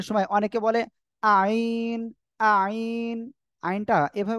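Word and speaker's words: عين: আইনটা এভাবে উচ্চারণ হয় না। ফার্স্ট ক্লাসে আমি বুঝাইছিলাম, তারপরে আজকে আবার বলছি। দেখেন, এই আইন অক্ষরটা উচ্চারণ হবে গলাটা চেপে উচ্চারণ করতে হবে, আর চার লিপ টান হবে।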